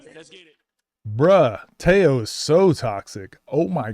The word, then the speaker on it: Tello: I'm pretty sure it's Teao, but everyone says Tello because how it's spelled.